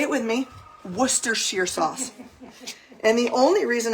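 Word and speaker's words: Worcestershire: next after this we're going to add some Worcester Shear sauce and if you have no idea what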